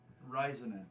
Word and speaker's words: Raisanen: And how do you pronounce your last name? Ryzen.